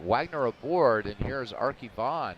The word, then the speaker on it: Wagner: speech engine they're used they keep calling Paul Wayner Paul Warner so I have no idea what the hell's going on with that it is definitely waynored there's no R in that name all right Wagner aboard